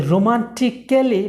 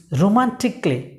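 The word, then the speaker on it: romantically: ওকে, রোমান্টিক্যালি বা রোমান্টিক্যালি নয়, ইটস রোমান্টিকলি।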